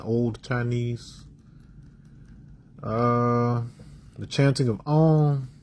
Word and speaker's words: Om: The chanting of Om, it's actually 3 syllables, really 4 if you could count the nasalization at the end.